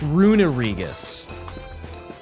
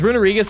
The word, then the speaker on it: Runerigus: I say Runerigus. A lot of people say Runerigus. Both are wrong. I believe it's Runerigus. Like you emphasize, there's like just an unnecessary syllable.